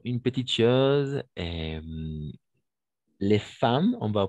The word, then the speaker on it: femmes: petite chose et les femmes on va prononcer les femmes oui on ne fait il y a le E ici mais on va prononcer femme d'accord les femmes jouent